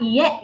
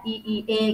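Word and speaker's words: いいえ: mungkin kata-katanya yang masih perlu diperbaiki, ada kesalahan pengucapan ya Nak ya. Ada dikit aja. Mungkin ada kata iye gitu ya, penulisannya bukan iye gitu ya, bukan iye gitu ya, bukan k gitu ya, iye gitu ya, iie gitu ya.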